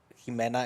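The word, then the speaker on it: Ximena: It's like, depending where you hear it from, I'm not sure Spain, but in Spanish, it kind of turns into a G. Like the name Jimena, it's Jimena and it's spelled with an X.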